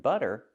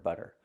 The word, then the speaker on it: butter: With words like water and butter, the stress is before the T. So we change these T's to a fast D. Water, butter.